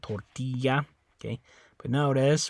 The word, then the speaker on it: tortilla: point this out so the Double L makes like that Y sound the ya sound tortilla okay but now it